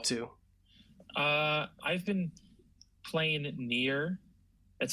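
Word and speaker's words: Nier: Uh, I've been playing Near. That's spelled N I E R.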